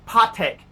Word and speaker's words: Patek: they're they don't understand patek philippe it's a pot heck gonna get that accent right patek philippe and